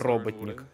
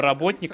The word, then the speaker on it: Роботник: доктор Эггман, он же в американских версиях тех времен известен как доктор Роботник. Ну, либо Работник, как его некоторые произносят, ну, как бы, робот, поэтому я его буду называть Роботник.